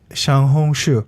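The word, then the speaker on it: 小红书: Xiaohongshu. Yes. That's how you pronounce it.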